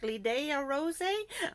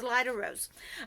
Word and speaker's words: Lida Rose: When you see them, you're like, Lidea Rose? But no, it's Lida Rose.